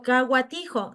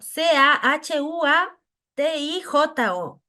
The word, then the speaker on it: Cahuatijo: ahora yo siempre digo kaa tijo c a h u a t i j O sí sabe pronunciar hu a es gua suena así entonces devolvía esa como